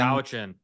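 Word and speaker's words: Cowichan: Kawichin. Kawichin. Is that how you pronounce it?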